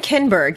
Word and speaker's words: Kinberg: So the screenplay was by Simon Kinberg? Is that how you say it? Simon Kinberg, yes.